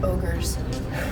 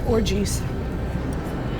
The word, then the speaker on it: ogres: I had a kid mispronounce the word ogres he read it as orgies aloud and I laughed